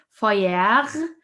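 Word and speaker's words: Feuer: the entire compound okay foyer yeah it's also um sometimes a bit tricky the e u e u sound is pronounced oi like in the word boy all right and the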